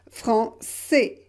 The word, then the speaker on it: français: And because we don't pronounce the final S, and don't forget, français, français.